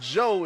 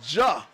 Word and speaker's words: Josiah: Josiah Davis's name wrong it's not Joe it's more of Ja we want to get